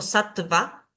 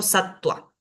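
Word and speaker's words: sattva: acá tenemos esto ejemplificado la va después de una consonante se pronuncia como u cuando inicia la la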